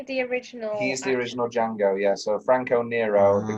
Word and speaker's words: Django: He's the original Django, yeah. So Franco Nero, the guy, so when he goes, how do you spell it? He goes, DJ. The D is silent.